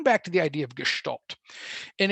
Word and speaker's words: Gestalt: rare cases we can do bottom-up processing ok Gestalt and that's how you pronounce it there's a hidden H in the word its Gestalt and it's a type it's I guess it's